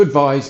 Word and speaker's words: advise: so the verb to advise means to give advice here are some examples with advice please advise me I need you to advise me to remember it rhymes with prize in every society some